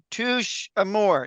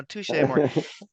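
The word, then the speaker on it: Touché Amoré: appreciate that um because I was like touch am more no so you know tou more and listening to it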